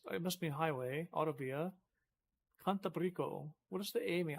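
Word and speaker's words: Cantábrico: I don't understand why the A would have an accent on it. Because I thought in Spanish that you always accent the second syllable. Oh, Brico. No, I think maybe you accent the second to last syllable then, huh?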